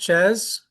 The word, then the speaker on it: Czyz: It's pronounced Ches.